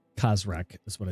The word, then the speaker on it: Khazrak: name now because there's rock how do you spell that by the way if it's khazrak that's what i said so it would be